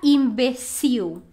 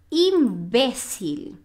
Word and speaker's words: imbecil: seu heterotonico Ou seja a gente não fala imbecil a gente fala o imbecil se você viu a sílaba tônica é diferente e desse imbecil Então